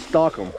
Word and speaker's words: Stockum: see, if you read it, it always looks like it says Stockum, but everyone around here always pronounces it Stockum.